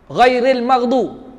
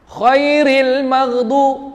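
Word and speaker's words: غير المغضوب: Ramai orang pi baca dengan sebutan dia huruf kha. Khairil maghdu, salah. Bila dia sebut khairil, ghairil, salah. Sebab kha tu bukan dia, ejaan dia ghin ya ra. Bukan jalan. Maksud dia ghairil maghdu. Dia ghairil maghdu. Tu je. Bukan khairil maghdu.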